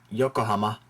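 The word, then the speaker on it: 横浜: are in English usually words in Japanese don't have stress on a particular syllable for example it's yokoh not Yoko it's Yokohama pretty much all the same stress throughout on all the syllables uh here's some very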